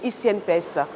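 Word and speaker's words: e-CNPS: La CNPS, dans la dynamique de la vulgarisation de sa nouvelle plateforme numérique ICNPS, qui s'écrit ECNPS, a organisé une rencontre avec les employeurs.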